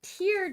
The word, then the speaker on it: tear: I believe they're pronounced tier dice because the tokens you get for them are shaped like tears.